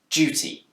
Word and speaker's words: duty: deer sound duty but it's also commonly pronounced with a j sound duty this change from deer